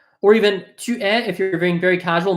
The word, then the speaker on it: tu es: Tu es français? Tu es français will often sound like t'es français.